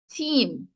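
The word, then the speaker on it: tiim: answer for number four we have t i i m and t e eem the word being team option one or option to one ends with a s ends um and the other one ends with a M sound hence the spelling number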